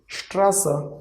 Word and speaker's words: Straße: See, e is coming at the end. That's why we are going to pronounce it as a. So Straße means street.